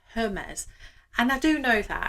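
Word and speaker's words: Hermès: Hermes. Okay, so a couple of people have told me to say it as Hermes rather than Hermes, and I do know that.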